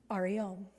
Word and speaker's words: Ariom: This is the one that came through to him to use, and he invited people to use, and it's spelled A-R-E-R-E Om. Ariom. Ariom, Hariom. Ariom, Hariom.